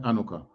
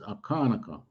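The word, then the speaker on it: Hanukkah: people in khalid anuka something like anoka but the proper pronunciation is akanaka we israelites when we were speaking our ancient hebrew tongue we used to say akanaka and this was to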